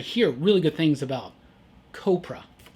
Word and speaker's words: Copra: Also from Image, Copra, or Copra. It's supposed to rhyme with Cobra, I believe.